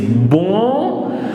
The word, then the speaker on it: bonjour: B-O-N, which gives bon, J-O-U-R, and here see, R will be pronounced since it fits the rule CFLR, so it is bonjour.